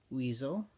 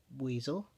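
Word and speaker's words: Buizel: The next 25, Weasel, or Buziel. Anime pronounces it as Weasel.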